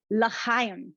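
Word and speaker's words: לחיים: Shani, I'm going to say it, but you have to correct me if I get the pronunciation. So okay. It is l'chaim, so to life.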